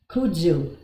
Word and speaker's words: kudzu: is called herb I'm not sure if I'm pronouncing it right but it's k-u-d-z-u Kudzu that's how it is Kudzu and you can